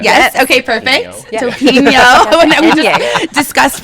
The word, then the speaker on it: Topinio: And we have the gorgeous Topinio. Hello. Did I say it right? Yes. Okay, perfect. Yeah. Topinio.